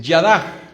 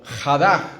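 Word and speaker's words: ידה: Está la otra palabra en hebreo que es yadah o jadah, como se pronuncia por algunos.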